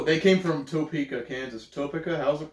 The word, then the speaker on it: Topeka: it you know they came from Topeka Kansas Topica how's it pronounced Topeka yeah very cool that you have someone come